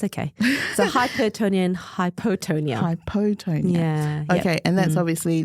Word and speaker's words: hypotonia: which is hipotonia hypotonia oh is it still pronounced the same way hypotonia yeah wow really I know that is Total